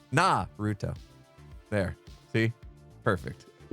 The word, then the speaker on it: Naruto: Try not to put emphasis on the Ru. Naruto. Can't do it. Can't do it. Naruto. Nailed it. Oh, don't do it with a fancy sound. Naruto.